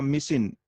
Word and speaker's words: micin: And second class is derived from माइक्रोमोनोस्पोरा जिसके अंदर suffix आपका होगा मिसिन, MICIN।